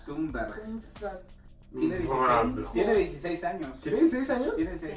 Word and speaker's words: Thunberg: Es como un encabezado bastante importante, y para puntualizar, Greta Thunberg, o como se pronuncia en sueco, Thunberg.